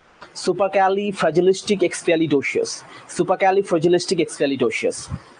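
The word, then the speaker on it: supercalifragilisticexpialidocious: এটা fast সেকেন্ডটা super Kelly super Kelly ফ্র্যাজিলিস্টিক super Kelly fragilistic এক্সপিয়ালি ডোসিয়াস সুপারক্যালি ফ্র্যাজিলিস্টিক এক্সপেয়ালি ডোসিয়াস super Kelly ফ্র্যাজিলিস্টিক এক্সপিয়ালি ডোসিয়াস একভাবে উচ্চারণ করলে ঠিক আছে বোঝা গেল বিষয়টা ওকে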